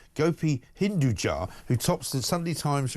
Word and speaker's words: Hinduja: Gopi Hinduji. That's possibly the worst pronunciation of that name I've ever heard.